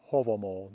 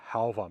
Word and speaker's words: Hávamál: here one is that I use reconstructed medieval pronounciation not modern Icelandic pronunciation hence for example hovel mole not halvah now I do know